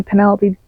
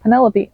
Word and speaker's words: Penelope: The next book I read was Punk 57 by Penelope, that's not how you say it. Penelope. There we go.